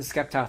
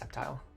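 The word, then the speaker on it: Sceptile: Uh the Skeptile thing is a meme. Yeah, I know it's pronounced Septile.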